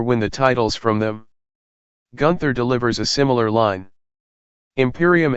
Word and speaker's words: Gunther: Bivens goes on ripping into Imperium, and gets Gunther's name wrong by calling him Gunner, but the music interrupts and out comes Gunther, Eichner, and Barthel. Gunther corrects Bivens for saying his name wrong, and says Bivens will